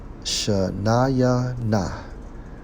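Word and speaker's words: שְׁנִינָה: Byword, according to the Hebrew, Strong's H8148, pronounced as Shana Yah Nah. Shanaya Na, which means sharp word, taunt, or jeeb, which means an insulting or a mocking remark, a taunt.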